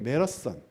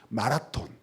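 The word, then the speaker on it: marathon: 갤리온이라고 불러요 여러분 그 중학교 때 매력선 우리 메러썬이라고 발음해야 된다고 선생님이 그러셨어요 중학교 영어 선생님이 마라톤 마라톤 이런 무식한 녀석들 따라해 봐 메르스 안 매라서 기억이 나는데이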